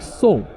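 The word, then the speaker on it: 宋: You can say it like song.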